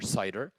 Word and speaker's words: CIDR: classless inter domain routing cidr or cider that's how it's pronounced it can be thought